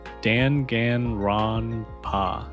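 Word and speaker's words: Danganronpa: Daniel says there's two ways to pronounce dang rompa. The informal way is like dang in rhpa but the official way is dan gan rona. Okay. Yeah. The first Dan is pronounced like Dan in my name.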